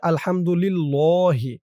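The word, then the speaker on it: الحمد لله: অনেকে বলে আলহামদুলিল্লাহি। আল্লাহ শব্দ কোনটা কেমন উচ্চারণ করতে হবে এটা কিন্তু আপনারা অনেকেই জানেন না।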